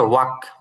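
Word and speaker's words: walk: এটা হচ্ছে ওয়াক, এলটা উচ্চারণ হবে না, ওয়াক, ওয়াক মানে হচ্ছে হাঁটা, ক্রাই কাদা, লাফ হাসা, ওয়াক হাঁটা।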